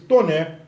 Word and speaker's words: Taunay: E aí se destaca o nome de Visconde de Toné. Escreve-se Taunay, mas pronuncia-se Toné, já que o sobrenome é francês. Visconde de Toné escreve Inocência, a história de uma menina órfã de mãe.